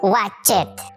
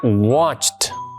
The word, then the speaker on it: watched: ¿Y por qué ahí dice watchet? Eh, Guillito se pronuncia watched.